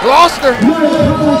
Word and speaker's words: Gloucester: Gloucester.